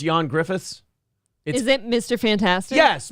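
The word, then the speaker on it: Ioan Gruffudd: spelled all up but it's pronounced John Griffiths is it Mr Fantastic yes Mr Fantastic I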